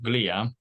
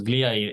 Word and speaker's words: glia: So I prefer the Greek pronunciation, glia, right? Because glia, it comes from the real word, the Greek word, glia, which literally means glue. But I mean, you can pronounce it with the English pronunciation, so it's glia.